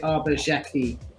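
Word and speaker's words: Xhekaj: I'm going to say Arbor Jackie. I'm gonna go with Arbor Zekaj. We have ABSP getting remarkably close. This is pronounced Arbor Jacki, not Jacki. Jacki, a hard J.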